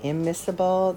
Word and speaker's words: immiscible: one final vocabulary term miserable and immiscible that C is silent when you pronounce it so miserable and